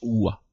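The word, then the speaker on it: は: ici notre première particules la particule loi qui s'écrit certes à mais qui se prononce ou à l indique que le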